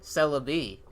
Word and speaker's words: Celebi: Libya lugio Lugia celery what to sell it Celebi yep Celebi regicide Regis side red dice it